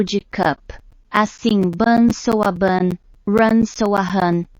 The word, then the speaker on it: Bun: Tem o mesmo som do one curto, parecido com o one em cup.